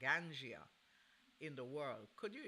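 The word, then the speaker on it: ganja: It's like going to college or university to become a Ganzia. I want to say it correctly, a Gangia in the world.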